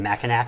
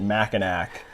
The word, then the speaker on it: Mackinac: Mackinac? So many beer reviewers, so many beer reviewers I've seen on YouTube pronounce it Mackinac, but it is Mackinac.